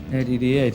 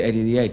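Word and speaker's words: Eddie the Head: So we called it Eddie the Ed, because we don't, because we're from London, we don't pronounce the H, so we just say Ed, Eddie the Ed.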